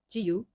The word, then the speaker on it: 自由: In Japanese, it says, it's pronounced 지유.